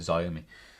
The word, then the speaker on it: Xiaomi: having a secondary wheel it is pronounced show me yeah i call it xiaomi um it is showing me to talk like oh what about chow mei but i think it's show me i think is it